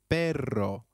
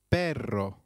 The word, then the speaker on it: perro: Note that double R in Spanish can also be referred to as rolled R. The pronunciation is almost with a vibrating sound. So try saying perro, which means dog again. It is perro.